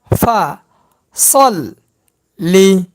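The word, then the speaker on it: فَصَلِّ: লামের জের লি ভাঙ্গা ভাঙ্গা উচ্চারণ ফা সল লি ফা সল লি একসঙ্গে উচ্চারণ ফাসললি ফাসললি ফাসল্লি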